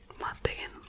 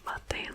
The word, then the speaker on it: Matijn: So may name is pronounced like /mɑˈtɛi̯n in America they don't use the "ij". They just say /mɑˈtēn/ or something like that. But it's /mɑˈtɛi̯n/ Matijn; Matijn.